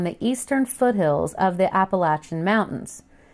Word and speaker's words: Appalachia: eastern foothills of the Appalachian Mountains. I pronounce it Appalachia. It's just where I'm from.